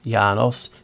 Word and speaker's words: Janus: In ancient Roman religion and myth, Janus, Latin Janus, pronounced Janus, is a god of beginnings, gates, transitions, time, duality, doorways, passages and endings.